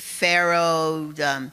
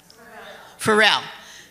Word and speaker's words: Pharrell: You know, I'm pronouncing his name incorrectly because I can't remember, but Pharaoh, and I'm so happy that, how do I pronounce it? Pharrell.